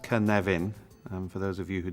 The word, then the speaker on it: Cynefin: this is the Canadian framework pronounced kan leven for those of you who don't speak Welsh